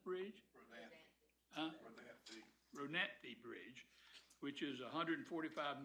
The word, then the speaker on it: Rodanthe: How do you pronounce Rodanda Bridge? Rodanthe Bridge, which is a $145 million design build contract awarded in January 17.